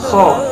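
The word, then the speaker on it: خ: Ketujuh adalah huruf kho, pelafalannya kho.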